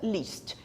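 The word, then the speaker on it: least: diferente mas foi ó você tem l a s t pronúncia Leste ele é a ST pronúncia list é que last significa finalmente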